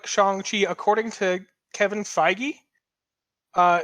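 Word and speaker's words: Shang-Chi: to the internet uh it does look like chongqi according to kevin feige uh is the one who started off the pronunciation of it as shong chi on uh or not even chong chi shang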